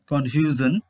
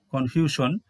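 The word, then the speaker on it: confusion: এখানে দুটি ওয়ার্ডস রয়েছে, ওয়ার্ডস দুটির কিন্তু সঠিক উচ্চারণ হচ্ছে কনফিউশন এবং হিজ।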